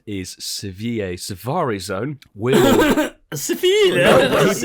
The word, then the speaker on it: Seville: Seville. He pronounced it correctly.